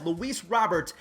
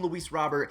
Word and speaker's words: Luis Robert: him as well as luis robert robert that's exactly how you say it but again for the sake of these videos everyone calls him louise robert he is going to